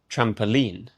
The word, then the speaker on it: trampoline: First, trampoline. Trampoline. Again, the stress is on the final syllable, the last sound. Trampoline is the same pattern as magazine.